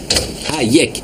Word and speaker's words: Hayek: Comment ça se prononce son nom? Hayek.